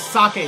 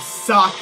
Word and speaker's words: sake: with you in this yes it is sake not safe in Japan a vowel ends the syllable I'm pretty sure that's usually it does so yeah it's sake and of course the bells